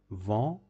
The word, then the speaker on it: vent: Le vent, vent means the wind. As you already know, te is not pronounced at the end of the word, so vent means the wind.